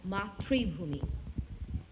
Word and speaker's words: মাতৃভূমি: এবার আসি খুব গুরুত্বপূর্ণ দুটি শব্দে, রাত্রিশেষ আর মাতৃভূমি। এখানে মাতৃভূমি যেমনটা আছে তেমনটাই উচ্চারণ করতে হবে। এখানে কখনোই দ্বিত্ব হবে না।